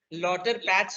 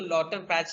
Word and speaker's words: Lauterpacht: उनको अलग अलग नामों से बुलाया जाता है इनको, लेकिन लॉटर पैच ही बोलते हैं ऐसे। उनका नाम LAUTERPACHT है। मैं प्रोनाउंस तो लॉटर पैच ही करता हूँ, टी नहीं, टी साइलेंट रहता है इनका।